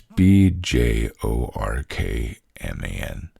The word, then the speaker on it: Bjorkman: It's B J O R K M A N.